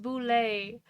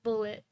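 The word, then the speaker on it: Bulette: So, also it says apparently it's pronounced boule. I'm still gonna pronounce it bullet because boule.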